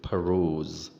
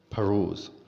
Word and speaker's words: peruse: okay the next word is pros the right pronunciation is peruse peruse and this world is a former world and